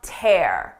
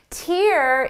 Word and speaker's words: tear: Listen to the difference. Seeing the tear in my shirt brought a tear to my eye. First, we have tear. You can tear a piece of paper. Now, tear as a noun is used to describe a hole or a rip in clothing or in material like a piece of paper. Tear is the liquid that comes from your eyes.